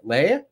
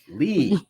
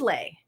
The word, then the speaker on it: Lee: Somewhere along the road, I got it in my head that it is Lee, but that you spell it the other way, L-E-I. Oh, that's still pronounced Lee. Yes, but sometimes people are. Sometimes it is Lay. Yes, I've seen it both ways, and so I